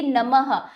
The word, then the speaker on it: नमः: जैसे देखिए नमः जहां आपकी अहा की मात्रा आएगी उस उस व्यंजन उस वर्ण के साथ ह का उच्चारण होगा। जैसे न प्लस म प्लस ह नमः नमः।